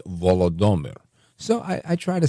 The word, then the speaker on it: Volodymyr: listeners that said, no, it's not Volodymyr, it's Volodymyr.